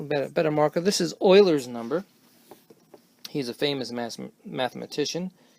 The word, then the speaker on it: Euler: better marca this is Euler's number he's a famous mathematician that's how you write it let you pronounce it Euler and then you know